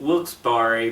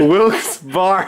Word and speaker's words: Wilkes-Barre: room I can't do it George Kittredge from Wilkes-Barre Pennsylvania what the heck how do you pronounce that word Willis bar you stupid you're such an idiot I didn't